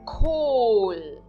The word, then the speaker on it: Kohl: Kohl. Kohl. Vocês viram? Eu acentuo, eu marquei então o OH em azul, eu acentuo essa parte dessa palavra. Eu digo Kohl. E novamente o H não é pronunciado, apenas depois ainda a letra L.